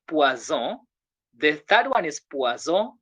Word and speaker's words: poison: When letter S appears between two vowels, a single S appears between two vowels, the sound becomes what? Z. You get that? So we say poison.